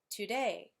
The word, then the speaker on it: today: An iambic foot has 2 syllables, 2, where the first syllable is unstressed and the second syllable is stressed. For example, today. When you say that word, today, you hear that it's iambic because the stress falls on the second syllable, day.